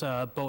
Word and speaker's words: Beau: and my name, Bo, is spelled Beau.